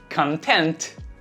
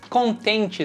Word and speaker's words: content: Content. Contente, satisfeito, tem a tônica na segunda sílaba. Content. E você, está contente com o conteúdo deste canal? Are you content with the content of this channel? Não esquece, sílaba 1, conteúdo, content. Sílaba 2, contente, satisfeito, content.